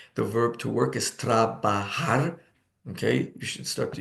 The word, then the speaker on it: trabajar: Trabajar, and the J is pronounced like an H.